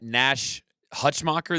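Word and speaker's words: Nash Hutmacher: no answer for him that Nash Hutch mocker that's how you say it yeah he honestly looks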